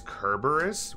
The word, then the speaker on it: Cerberus: Your Cerberus is pronounced with a K. It's Kerberus?